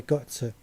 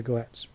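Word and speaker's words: Götze: very close friends with, Petra Gotze, which is, in the English pronunciation we'd say Petra Goetz.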